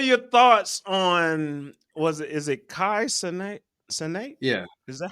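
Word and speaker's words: Kai Cenat: What are your thoughts on is it Kai Senate? Yeah. Is that how you pronounce it?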